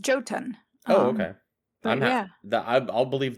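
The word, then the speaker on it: Jotun: So I always second guess myself because um in the in on Earth, right, Nordic a lot of Nordic languages don't pronounce the J sound.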